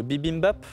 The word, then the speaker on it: bibimbap: Le bibimbap. Oh, c'est bien dit. Moi, je n'arrive jamais à le dire. Bibimbap, bravo. Bien prononcé Gaëtan, 3 points, dont le nom signifie